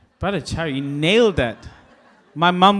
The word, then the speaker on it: Bhattacharya: Wow, great pronunciation. Bhattacharya, you nailed that.